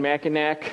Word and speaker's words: Mackinac: I wore it at the Grand Hotel on an anniversary day with my wife on Mackinac Island, Mackinac, depending on how you want to pronounce it.